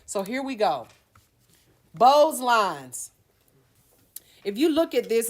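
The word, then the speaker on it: Beau's lines: dealing with cosmetic right so here we go bows lines if you look at this it's kind of hard to see in the book but Bose lines b-e-a-u-s these are depressions running across the width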